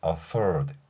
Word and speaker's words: afford: 할 수 있다는 것이죠 F 소리에는 니로 아래 입술을 물고 발음을 하신 상태에서이 발음을 한 상태에서 디귿을 흘리듯이내는 것입니다 발음 연습을 해 보시면은 afford 이렇게 발음할 수 있다는 것이죠 자 감당하다 해당하는 표현이고이